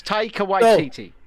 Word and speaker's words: Taika Waititi: Yes, Taika Waititi.